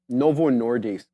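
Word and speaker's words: Novo Nordisk: very much Adera um Novo nordis I want I say dis because Adera told me how to say it properly um Adera they're Danish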